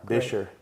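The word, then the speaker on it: Buescher: How do you spell it? B-U-E-S-C-H-E-R, Bisher.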